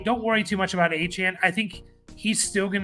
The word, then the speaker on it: Achane: Achane here.